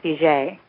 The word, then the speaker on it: Fugate: we're from Louisiana, and the pronunciation is Fugate, even though never get that from the spelling.